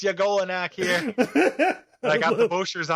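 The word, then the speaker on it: Y'golonac: And Yagolanak is spelled with a Y apostrophe. So it's like it's your Golanak. Boy. Yeah. Like, yo, it's Yagolanak here.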